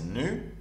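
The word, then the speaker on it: ν: Alors, il faut faire attention ici, c'est de différencier ce symbole-là, ou bien cette lettre grecque qui est prononcée nu, avec la lettre latine V.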